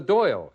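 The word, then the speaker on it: Dáil: of the Irish legislature it's known as the doyle it's spelled Dale pronounced doy so we go to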